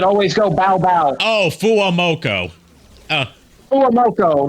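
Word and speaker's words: FUWAMOCO: Fu Coco. The two girls that always go bow bow. Oh, fuamoko.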